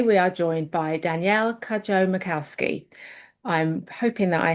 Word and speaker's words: Cudjoe: Today we are joined by Danielle Kajjo Macowski. I'm hoping that I have pronounced your surname correctly.